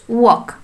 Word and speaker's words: walk: For example, जेमति कि आमे कहिबे चालिबार English walk. WALK walk. Here L is silent. We do not pronounce L here.